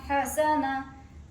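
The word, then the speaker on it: حسنة: পড়বেন তাহলে হবে কুতিল কুতিল কুতিল হা জবর হা সিন জবর সা হা নুন জবর না হাসানা তা দুই পেশ হাসানাতুন হাসানাতুন হাসানাতুন ওয়াক করিলে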